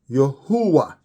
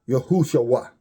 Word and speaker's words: Yahuwah: That's spelled Hahuah. It's pronounced Yahuwah, not Yahushua.